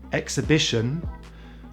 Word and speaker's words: exhibition: weight and straight and we don't always say the h after ex exhilarating exhausting exhibition but we do say